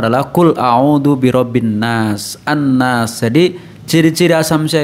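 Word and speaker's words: النَّاس: Jadi ciri-ciri asamsyah itu lamnya itu tidak ada harokatnya, tidak dibaca, ya, langsung masuk ke huruf berikutnya yaitu nun. Nun itu kan huruf asamsyah, yaitu al bertemu dengan nun, ya, an-nas, maka hukum bacanya adalah asamsyah.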